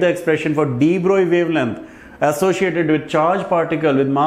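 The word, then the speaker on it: de Broglie: सो डी ब्रॉय wavelength is, हाँ, डी ब्रोगली लिखते हैं पर उसको डी ब्रॉय प्रोनाउंस करते हैं. ठीक है, इट्स डी ब्रॉय.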